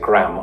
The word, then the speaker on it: graham: are sandwiched between a graham cracker right if you're wondering what a grain cracker is it's similar to what the British would call a digestive biscuit except it's square and Americans pronounce it gram and because of the